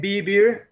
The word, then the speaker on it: Bee Beer: yeah then our name b beer if you say like if you listen phonetically in spanish is vivir which is to live if you read it textually in spanish it's beiber which is to drink interesting